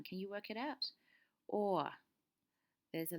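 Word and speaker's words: o'er: Again, can you see how over has two syllables? But to try to fit something into a rhythm, he would use or, one syllable.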